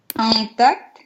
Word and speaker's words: intact: Intact. Опять на А уходишь. Intact. Intact. Тут, кстати, это читается, получается? В этом слове, да, intact читается.